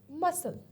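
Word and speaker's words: muscle: फिर सी रह गया एंड पे, मसल, ठीक है, तो मसल के अंदर क्या है, सी आपका साइलेंट आ गया है।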